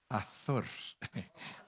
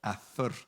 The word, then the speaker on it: Azor: Si lo pronunciamos bien es Azor. Azor, porque es con Z.